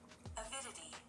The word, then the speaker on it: Avidity: Avidity.